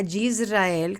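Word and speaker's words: ישראל: La palabra Israel, quiero que veamos hoy, la palabra Yisrael, que se escribe en hebreo, mira aquí tenemos una Yud,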